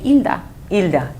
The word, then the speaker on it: Hilda: normally my name in in Spanish the H is silent so you just say Ila so Hilda was it was like